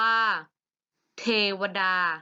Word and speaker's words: เทวดา: มี คำ นี้ อ่าน ว่า เทวดา อ่าน ว่า เทวดา เหมือน เดิม เทวดา ไม่ มี สระ อะ ไป